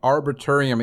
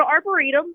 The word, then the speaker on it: arboretum: and the arbitrium explain to people what an arborium is or arum I think I got that misspelled or mispronounced yeah yeah it's an arboretum and so basically like a it's like a